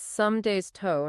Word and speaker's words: Somdej: And your suggestion of using toe, like the body part, is brilliant. It gives us a way to approximate that unique Thai sound. So it's some days toe, not some days dito. And the J at the